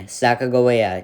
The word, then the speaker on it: Sacagawea: her a spot on my list number nine sacagawea yes that's how you pronounce her name a legendary figure of the